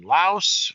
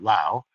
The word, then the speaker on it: Laos: the mountain range in Laos or Lao, Laos, but I think people pronounce it Lao.